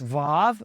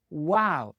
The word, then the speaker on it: waw: If you've been under the influence of the Germans, you may pronounce this vav, but that is incorrect and non-original, believe it or not. It was not a vav, it was a waw. It made the w sound when it was a consonant.